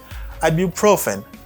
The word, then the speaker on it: ibuprofen: Et ibuprofène, on dit ça ibu, et puis profen. Ibuprofen. Ibuprofen. Good.